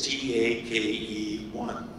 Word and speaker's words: Takei: people mispronounce ad Nathan it's ta ke one take one so I've met that